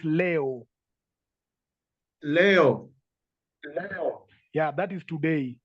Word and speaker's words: leo: Leo. Not Lee. It is A. The E is pronounced as A. So it's Leo.